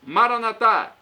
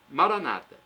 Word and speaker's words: Maranata: os evangélicos ou protestantes Maranata os católicos colocam a tônica na última sílabas evangélicos do protestantes colocam a tônica na penúltima sílaba significado é o mesmo